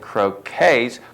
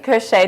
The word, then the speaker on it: crochet: Uh, she also knits and croquets. Colleen Lloyd. Yes. Hi, Colleen. Hi. Did I say croquet? Crochet.